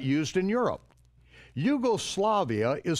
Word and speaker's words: Yugoslavia: Yugoslavia is spelled with a capital J, and only Americans mispronounce it as Jugoslavia.